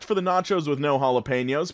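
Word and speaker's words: jalapeños: the nachos with no jalapenos pronounced with an H sound and the waitress rolled her eyes gave the biggest sigh and said it's jalopy nose pronounced with a J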